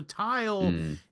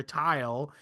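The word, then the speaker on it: Thule: So tile is uh it's a it's it's a place depicted by Plato initially if I'm not mistaken. Farthest tile which is spelled t h u l e.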